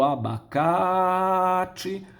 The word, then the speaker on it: abacate: Nós vamos esticar a vogal da sílaba tônica. Isso é foneticamente intuitivo. Olha o abacate. Então, se a sílaba tônica é aquela que tem a maior intensidade, a maior duração da vogal, aí no caso vai ser o K. A palavra abacate tem 4 sílabas, abacate. Qual delas tem uma duração maior na pronúncia da sua vogal? É o K.